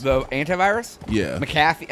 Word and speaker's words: McAfee: McAfee? I think it's McAfee. McCafe? That might be wrong. I don't know. Yeah, I can't remember it either, but I know it's not McCaffrey.